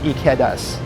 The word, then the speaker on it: Ikeda's: and an a akita the i is pronounced e and the e is pronounced a and the a is pronounced ah so it's ikedas it's a keda or something you can